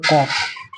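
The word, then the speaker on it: قاف: এটা হবে কফ, কফ, দেখো লেখা আছে বাংলাতে কফ। কাফ, ঠিক ওর মতো উচ্চারণটা হবে কাফ, এটা একটু অন্যরকম উচ্চারণ হবে কাফ, ঠিক ওই টাইপের দেখো উচ্চারণ আছে, এটা যেমন কফ হচ্ছে, এটা কি হবে?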